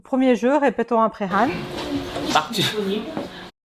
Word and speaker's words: 낙지: On va les prononcer ensemble. Le premier jeu, répétons après Han. 낙지. Takchi. 낙지.